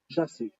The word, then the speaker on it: Jasif: it's incorrect not he it's actually phonetically it's pronounced Jasif J A S I F.